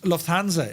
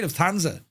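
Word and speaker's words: Lufthansa: H I love the way you pronounced Lufanza. It's wrong, but I love it. Well, you could say Lufthanza, but I go or Luanza, but yeah, Lufthanza.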